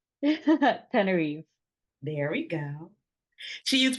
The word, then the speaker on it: Tenerife: Tenerife.